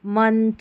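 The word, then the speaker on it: month: कुछ सामान्य शब्दों में ओ का उच्चारण अ होता है, वो सामान्य शब्द मैंने बता दिया। और यह एक महत्वपूर्ण अपवाद है, मतलब ये जो स्पेलिंग्स है ना, मंथ, मनी, सन या और कम, लव, रूल के अनुसार तो इसको अ पढ़ना चाहिए, ओ पढ़ना चाहिए, लेकिन ये रूल को फॉलो नहीं कर रही है, याद कर लें।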